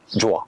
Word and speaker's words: Jowua: ce partenaire s'appelle Joa alors ça s'écrit j o W u a et ça se prononce Joa c'est une entreprise basée